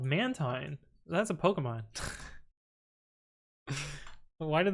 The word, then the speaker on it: Mantine: Mantine is how you pronounce it.